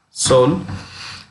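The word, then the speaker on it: Seoul: here but anyway fast soul the e is silent soul and the currency is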